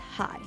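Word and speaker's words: 鞋: for the first month shoes are pronounced high high hi-sang means that you're sighing a lot don't do needle work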